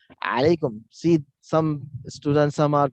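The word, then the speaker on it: عليكم: So many Arab, when they chat, they use 3 or 9 when they want to use that Ain. Ain, because there is no equivalent of alphabet in English. So 3 I have written purposely because to pronounce is alaikum, alaikum, alaikum.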